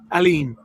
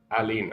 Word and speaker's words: Ailín: Yeah, the I is silent. Okay. The first first one. Yeah, the second I with the accent over it is like two E's.